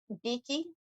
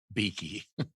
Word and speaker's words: Bekki: you say it um evidently there's actually two e's beaky beaky all right well that's all i need here that's a good best light of the day so far beaky i like that from